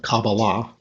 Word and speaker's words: Kabbalah: Kabbalah you've noticed that the word actually has three syllables and I have heard catalysts themselves pronounce the word with the accent on each of them Kabbalah Kabbalah Kabbalah but the standard pronunciation